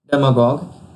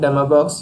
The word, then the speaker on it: demagogue: Once elected, demagogues use political power to further their own personal ambitions or fortunes. And its pronunciation is stressed on dem syllable, and here's a usage.